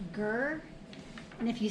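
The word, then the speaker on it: GIR: can only use gear it looks like it's pronounced gur and if you say ger on Instagram they will not re-tag you because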